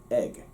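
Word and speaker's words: ag: the same iris uses egg it's pronounced egg spelled a g but egg now here's the thing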